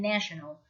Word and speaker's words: national: Now, be careful when you pronounce the word nation and national. The vowels are different. Nation, but national.